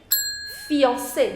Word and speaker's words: fiancé: Fiancé, which means fiancé. Now after C, you have E. The pronunciation of C is already S if it is followed by the vowel E. So you say fiancé.